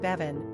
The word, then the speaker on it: Béibhinn: From this Celtic perspective, the name Béibhinn, pronounced Béibhinn, means sweet, melodious lady or fair lady, which would fit nicely for this seductress who worked her charms on Merlin.